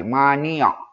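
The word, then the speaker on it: مانع: Nah, bacanya ujungnya pakai mati. Mani'.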